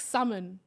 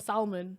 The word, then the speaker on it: salmon: know like it's like salmon and salmon yeah okay but how do I how am I supposed to know that is which is the right way don't pronounce the L it's a sign and